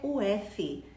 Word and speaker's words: of: não são amigas, é o F. F em inglês, O-F, nós falamos como se fosse um V, of. 2 Fs do botãozinho do on e off, aí sim você pronuncia com F.